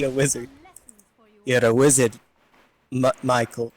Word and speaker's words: Maechael: he is indeed a wizard you're a wizard Michael Michael right yeah it's Michael Mich so it's one of those weird things everyone's like it's it's Michel I'm like it's just Michael and I'm John and they're like the [